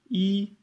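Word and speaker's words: 一: Donc le 1 se prononce I, et c'est juste une barre, un trait tout droit, donc facile à faire.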